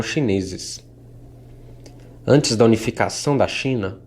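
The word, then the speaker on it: Qin: versão da grande muralha o nome de sua dinastia pronunciado Chin provavelmente está na origem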